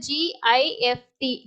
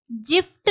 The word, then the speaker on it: gift: உதாரணமாக , G-I-F-T என்ற வார்த்தையை நாம் எப்படி உச்சரிப்பது? Gift, 'jift' அல்ல. ஜி-கிஃப்ட், 'ஜிஃப்ட்' அல்ல, அது 'கிஃப்ட்'.